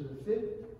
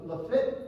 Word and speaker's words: Lafitte: are French Canadiens, and it is Lafitte on sit. Oh, I didn't know that. Turns out, actually, they were right, and I was wrong. Lafitte does rhyme with sit, and that's how Lafitte is.